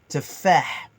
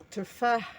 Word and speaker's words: تفاح: تفاح تفاح. Le H à la fin, c'est un H expiré dans la gorge. تفاح, d'une façon aiguë. تفاح. Tefah, Parfait, répète.